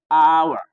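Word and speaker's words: hour: तो एच जब शुरू में आता है तो हम लोग आवर, इसको पढ़ लेते हैं हावर, क्या पढ़ते हैं, हावर, जबकि गलत है, आवर, आवर, एच साइलेंट होता है बेटा, ये होने।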